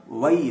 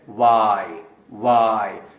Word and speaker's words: Y: اپنا منہ کھولیں گے, ورنہ یہ وائی نہیں ہوگا, وئی ہو جائے گا, اور وئی صحیح تلفظ نہیں ہے. اس کا صحیح تلفظ ہے وائی.